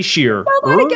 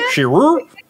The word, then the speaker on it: Shearer: It's not easy to add the E-R to Shear. No. It just gets shortened. Shear. Shearer.